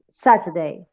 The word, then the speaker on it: Saturday: How many syllables you have there? Let's think about that. Saturday. Saturday. 3. 3, okay. And say it again. Say Saturday. Where is the stress? In which Saturday. syllable? Okay. In the first, I think. Good. In the first one.